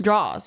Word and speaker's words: drawers: __ ] kitchen drawer drawers draws yeah it's like jaws if you're gonna say